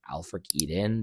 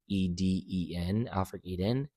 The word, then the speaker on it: AELFRICEDEN: And when I started partnering with the company Alfric Eden, that's spelled AELFRICEDEN, Alfric Eden, the game changed for me.